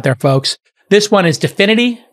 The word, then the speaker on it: Dfinity: folks this one is dfinity de finity as i think how it's pronounced spelt d f i d-f-i-n-i-t-y and they've been hit